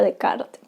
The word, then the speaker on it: Descartes: su mayor exponente descartes que ya sabemos que se pronuncia de kart descartes postulado que existe gracias